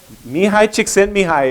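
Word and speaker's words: Mihaly Csikszentmihalyi: Anybody know how to pronounce his name? I do. Let's hear it. Mihai Csikszentmihalyi, exactly right.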